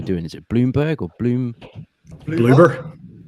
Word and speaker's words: Bloober: And I know there's some people that are upset because it's, how do you pronounce the studio doing? Is it Bloomberg or Bloober? Bloomberg, yes.